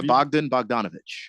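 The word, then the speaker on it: Bogdanović: yic eight plus assists Bogdan bogdanovich or how do you say his name did I say it right b b bdon yeah Bogdan bogdanovich oh I did say it right yeah oh uh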